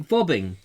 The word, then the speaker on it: Vobing: There is a place called Vobing, but they pronounce it Vobbing.